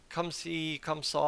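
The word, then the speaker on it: comme ci, comme ça: it's just kind of Come See Come Saw I think is how it's said in French so so it just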